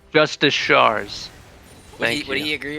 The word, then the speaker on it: Justicars: I guarantee you that he does not pronounce it that way. Yes, Got it. Okay. it's Justicars.